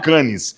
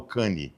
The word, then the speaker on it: Cannes: Porque eu já nem falo Cannes, eu falo Cane. Muito bem. Que é a forma, mas é assim que é falar. É a pronúncia Cane.